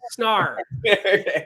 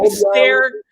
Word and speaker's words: Snarr: Snarr. Not, people say stare, all these weird things. I don't really care, but Snarr is the correct way to say it.